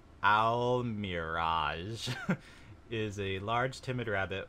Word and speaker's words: Almiraj: in al mirage quote parentheses pronounced al mirage is a large timid